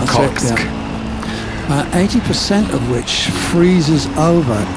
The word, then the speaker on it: Okhotsk: The Sea of Okhotsk. I'm not saying it right. Okhotsk. Not Okhotsk.